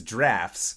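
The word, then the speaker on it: draught: of and even if even though it is DRA ug HT its drafts so thank you weird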